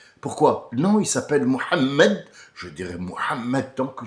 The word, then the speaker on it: Mohammed: Pourquoi je dois le prononcer en français ? Pourquoi Mahomé ? Pourquoi je dirais Mahomé ? Pourquoi non, il s'appelle Mohammed.